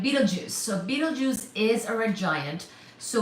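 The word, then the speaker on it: Betelgeuse: So, by the way, Beetlejuice is spelled as B E T E L G E U S E, I do believe. Please do check my spel spelling, but it's not Beetle uh juice like the fruit juice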